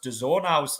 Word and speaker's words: DAZN: And I've looked, and it is actually pronounced DAZN.